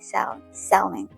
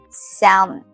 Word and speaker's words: salmon: Salmon. Salmon. How is it again? How to say it again? Salmon. Salmon. You don't pronounce the L.